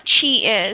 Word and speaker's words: qi: So Qi, yes, and if you could explain to our listeners what Qi is and tell us about how people can actually start to see it.